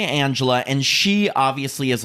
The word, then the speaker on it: Angela: So the first one is, well, they pronounce it Angela, but it's Angela because it's Spanish.